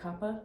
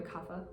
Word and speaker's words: kapha: You pronounce it kappa? Yeah. It's called a kapha.